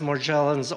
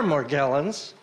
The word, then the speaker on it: Morgellons: for pointing out that it can be pronounced morgellons or more gallons so that i felt